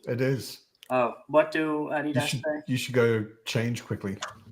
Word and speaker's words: Adidas: Adi Adidas is called Adidas because the guy's name is Adi Dasla.